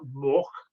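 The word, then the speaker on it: Morck: It's called Palle Mork, M-O-R-C-K is how we always pronounced it, and that's how we spelt it.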